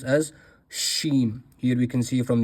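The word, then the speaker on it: ش: This letter is pronounced as shen.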